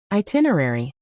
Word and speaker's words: itinerary: Itinerary is a bit of a marathon/ aiitin dot dot rare do I slash with the stress on the second syllable.